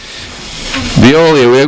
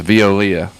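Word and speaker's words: Veolia: Violia. We call Viol. We pronounce it wrong because it's a French company that's pronounced Violia.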